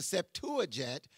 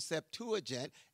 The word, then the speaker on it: Septuagint: In the Septuagint, which is the translation Septuagint, S-E-P-T-U-A-G-I-N-T. Give you a couple words that maybe you have, maybe you don't. The Septuagint is the translation of the Old Testament into